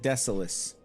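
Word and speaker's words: Desolace: Some people pronounce it desolus. Not me. No, sir. It's the soulless.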